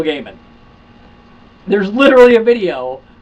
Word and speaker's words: Gaiman: name Neil Gaiman and for years I I said diamond but Neil Gaiman says it's Neil Gaiman there's literally a video